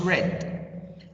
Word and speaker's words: read: pronounce it read mister or what no it's red in the past four i pronounce the verb read as read not read